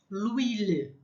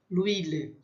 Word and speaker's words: l'huile: L'huile. É dessa liaison que a gente estava falando, né? Então é le, huile, aí cai o E, entra uma apóstrofe e fica tudo junto. O óleo. L'huile.